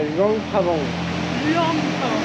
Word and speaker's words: Luang Prabang: En tout cas, du coup, on vous l'a pas dit, mais on est là à Luang-Prabang.